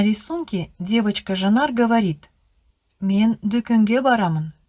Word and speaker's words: дүкен: Ребята, слово, которое пишется «дүкен», с точки зрения литературного казахского языка лучше произносить «дүкен».